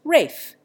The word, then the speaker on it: Ralph: Ralph is pronounced Rafe.